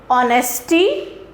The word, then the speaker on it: honesty: For example, honesty, honorary, ire. Now in these words we have H, मगर हम कभी इस word को honesty नहीं बोलते हैं because the H is silent over here.